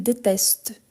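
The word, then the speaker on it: détestent: Le ENT, quand il s'agit d'un verbe, on ne le prononce jamais. Donc, il déteste.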